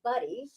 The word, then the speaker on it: Budde: We don't want to make sure everybody knows that Budde, now I've got the correct pronunciation, the owner of SqWires, which is an incredible restaurant, is with us, and picnic the basket with her.